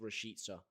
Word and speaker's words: Rashica: I believe it is pronounced by the where's he from again? The same place as Lawrence McKenna's goal. I forgot. But apparently it is meant to be pronounced Rashica, which is ironically how you pronounce Norwich City in English. Rashica.